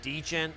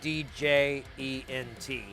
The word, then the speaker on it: djent: So this music is metal, but it's a type of metal known as gent or djent. I guess I've been pronouncing it wrong forever, but there is a D. It's D-J-E-N-T.